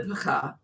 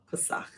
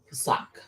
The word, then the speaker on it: Pesach: the sacrifices for your brethren, and keep the pakah. Ooh, I'm saying it wrong. I've been saying it wrong. Pesach. Pesach.